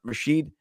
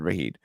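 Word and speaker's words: Rashid: you'll be fine but Rasheed Shahed I'm saying it wrong I said rahid sorry my guy re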